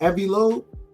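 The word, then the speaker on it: Loeb: I was listening to what what I is it is it and I'mma say the brother name wrong. Avi Lo, right? A lobe.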